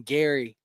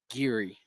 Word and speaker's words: Geary: going to be in Gary and she was like that ain't how you say it it's Gary. Oh yeah, we were like, "Oh, but yeah."